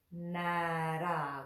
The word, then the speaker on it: Nārāyaṇāya: Nara. We'll just take the first two syllables there.